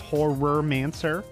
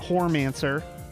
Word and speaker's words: Horrormancer: Her name is Horrormancer. Not Hormancer.